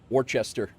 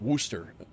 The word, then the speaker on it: Worcester: Warchester or Warcester, everybody says from out from not from there, but Worcester is the uh it's it's actually a uh like Worooster, but that's another one that's whacked.